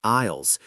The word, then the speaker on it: aisle: Wait, what about the silent letters we find in grocery stores? Oh, you mean the aisles?